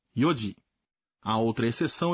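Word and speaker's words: 四時: 4 horas não é shiji, se diz yoji.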